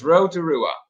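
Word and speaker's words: Rotorua: pronounce roto-rooa okay so this road to rua okay that's how i would pronounce that megan's saying i would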